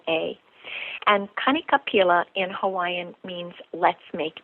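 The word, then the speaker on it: Kanikapila: in the evenings they have a thing called K capila it's three words it's spelled k a n i next word k a next word p is in Paul i l a and Kik capila in Hawaiian means let's make music each night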